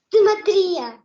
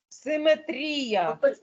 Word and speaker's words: симетрія: чуєш що я кажу Прочитайте правильно слово з правильним наголосом метрія Ні десенко давай Денисенко симетрія симетрія А чому симетрія а не си що є тлумачення і словника української мови академічний словник української мови нам каже симетрія симетрія запам'ятайте якщо рефлексія ні в